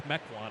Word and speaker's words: Mequon: I know I'm going to have one of my Milwaukee friends tell me it's pronounce it wrong. Right. They're going to yell at me if I don't tell you. It's Mequon, apparently.